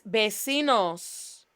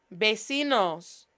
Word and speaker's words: vecinos: Mis vecinos. Vecinos. V, remember, V's are pronounced like a B.